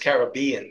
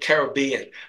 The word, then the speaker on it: Caribbean: of the Caribbean actually I believe it should be pronounced Caribbean because you if you're if you're not sure the pronunciation you accent the penultimate syllable which would make it Caribbean but if Pirates of